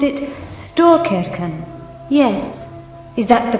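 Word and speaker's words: Storkyrkan: Yesterday, when we visited the great church, you pronounced it Storkirken.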